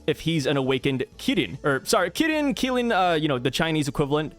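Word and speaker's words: Qilin: Kilin, you know, the Chinese equivalent. This is same thing, but the Q really messes me up. I don't know why. I know it's pronounced like a K, but hey, it gets me, man.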